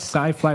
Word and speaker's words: CyFly: Did I pronounce it right? Sci-fly, like your name?